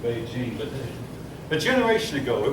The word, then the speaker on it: Beijing: all along so that's why it's now called Beijing but a generation ago it was called peak